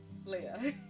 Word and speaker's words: Aaliyah: Hi, my name is Aaliyah, pronounced Leah.